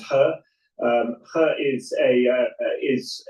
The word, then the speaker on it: He: I mean to give them is that was a confusing surname in in in Chinese but it's pronounced her.